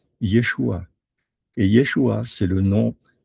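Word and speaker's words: ישוע: Yodé Shin Vav, on sait que ça se prononce Yeshua et Yeshua, c'est le nom hébreu de Jésus.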